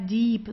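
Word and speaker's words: Dieb: as you see here I E that means that you have to stretch the eye okay so it's a long ey the Deep so you don't say dip or dip deep it's deep yeah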